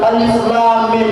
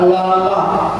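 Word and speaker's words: الم: Di situ tulisannya alif lam mim, itu bukan bacanya alama, bukan, tapi alif lam mim.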